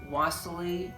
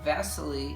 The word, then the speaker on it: Wassily: and our russian artist wassily or as it's pronounced really uh in russian vasily kandinsky kendinsky's one was